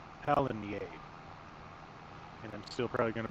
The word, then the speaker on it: Pallegney: And he pronounces this map Pallegney. So now that I have the correct name, I'm going to start saying Pallegney.